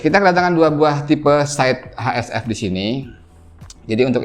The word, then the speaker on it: Scythe: Tulisannya Scythe kayak gini, Scythe, cuman harusnya pronunciation yang benar itu dibacanya Scythe, gitu katanya.